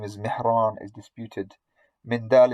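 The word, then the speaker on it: مندل: Mindal ibn Ali, this is the correct pronunciation according to Al-Khatib and others. Some also give it as Mandal.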